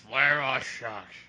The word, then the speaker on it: Vladivostok: That was properly pronounced. Vladivostok.